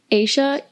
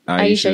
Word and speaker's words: Aisha: And then also my other favorite is when Aisha, that's how you say her name, right? Aisha, yes, thank you.